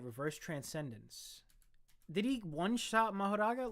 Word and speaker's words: Mahoraga: Those are the only ways to refer to Mahoraga. Or Magoraha. I think I liked mispronouncing the name and saying Magoraha.